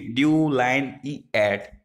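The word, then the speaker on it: delineate: Throw your pronounce it ड्यू लाइन E eight, there is अ लाइन इन the middle of द डिलीनिएट।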